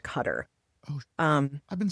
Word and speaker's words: Qatar: And by the way, I always thought it was pronounced Qatar. I thought it was Rob's Rob's aunt and uncle lived there for a while and they told us it's properly pronounced Cutter.